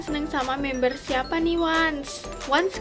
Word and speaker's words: ONCE: sama member siapa nih wants wants kan guys sebutannya tulisannya tuh Once Tapi bacanya tuh Once bener nggak sih kalau